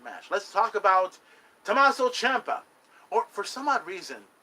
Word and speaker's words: Ciampa: It should have been Chapa or something like that. That's Ciampa. That's how we know it. But it's spelled Siampa. Ciampa.